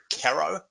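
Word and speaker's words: Carro: It's spelled C-A-R-R-O, Caro.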